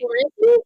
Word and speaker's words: Calliope: Sorry, how do you pronounce her name again? Maury Calliope? Maury Calliope? Calliope.